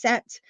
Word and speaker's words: Set: talked about him um his name is spelled s t or s t but it's pronounced set now he is the